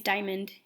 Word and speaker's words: Dyamonde: Daniel and you see her name is diamond but it's spelled kind of funny but it is pronounced diamond alright so the first